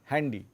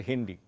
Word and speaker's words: Handy: it is not dahi Handi , it is Haendy . OK? So, they have made a word which is- and it s pronounced as Haendy . OK? Mein Handy. Actually just say Hendy , but, mein Handy.